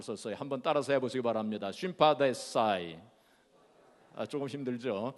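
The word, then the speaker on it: συμπαθῆσαι: 체휼이라고 하는 단어는 헬라 말로 쉼파데사이라고 하는 단어를 썼어요. 한번 따라서 해보시기 바랍니다. 쉼파데사이. 조금 힘들죠, 발음하기가.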